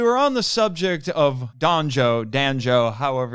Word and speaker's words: Danjo: So we were on the subject of Danjo, however, it sounds like banjo. Danjo rhymes with banjo.